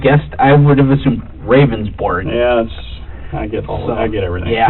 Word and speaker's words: Ravnsborg: Ravnsborg. Okay. But it's pronounced rounds, like a round circle, Okay. berg, like an iceberg.